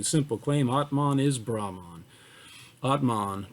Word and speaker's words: atman: claim atman is brahman atman pronounced a htman atman and brahman are